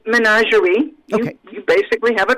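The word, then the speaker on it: ménagerie: how do you say that in french it's menagerie okay you basically have a bite yes good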